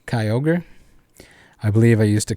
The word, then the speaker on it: Kyogre: one else mentioned it i used to call kyogre kai org instead of kyogre i believe i used